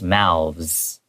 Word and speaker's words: mouths: And with the S, it becomes mouths. Mouths. It ends with the owls. Yeah, if you say owls and then mouths, like that. It's kind of an awkward 有 pronunciation.